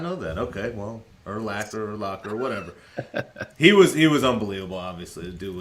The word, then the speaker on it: Urlacher: I mean, because Urlacher was just so dominant for so long. Maybe you could say his name right. Urlacher. It's Urlacher? I thought it was Urlacher. Urlacher. It's not Locker.